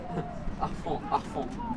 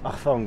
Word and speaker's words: harfang: en langue franque, le H se prononce en H aspiré.